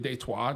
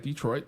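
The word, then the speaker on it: Détroit: um because Deto because we live technically in the city of Deto, not Detroit. That's a corre correct pronunciation.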